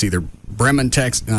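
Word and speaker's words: Bremond: Yeah, it's I don't know how to say it's either Bremen, Texas. No, it's probably Bremen. B R E M O N D. Sounds like Brimman.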